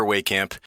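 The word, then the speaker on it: Wehkamp: I'm voice actor Christopher Waycamp. Wait a second. Waycamp? Have I been pronouncing it wrong this entire time? Wellcap?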